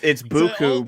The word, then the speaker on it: Buchu: I think technically it's Buku, but I mean, Buku.